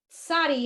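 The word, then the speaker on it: tsadi: Sadi has more air behind it. Think of TZ. Tz.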